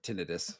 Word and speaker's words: tinnitus: the Wim Hof method cause tinnitus or tinnitus that's the way you pronounce it correctly and absolutely um there